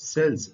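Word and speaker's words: cells: है दोस्तों ध्यान दीजिए सी के बाद ई और आई आने पर इसका उच्चारण स होता है जैसे CE double L एस सेल्स सेल्स का अर्थ होता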